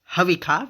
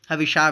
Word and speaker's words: हविषा: अच्छा, यस्य छायामृतम यस्य मृत्युः कस्मै देवाय हविखा विधेम, हविषा विधेम, हविखा विधेम। वेद में मूर्धन्य श को ख उच्चारण किया आता है, खासकर यजुर्वेद में।